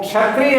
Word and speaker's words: क्षत्रिय: वो क्षत्रिय है और ये छतरी है। तो इसलिए इसका उच्चारण जब आप यहां देखेंगे तो क और क्ष के संयोग से बनता है।